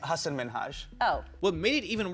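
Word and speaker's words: Hasan Minhaj: And it's Hassan Minaj. Yes. No. Really? Well, my name is Hassan Minhage.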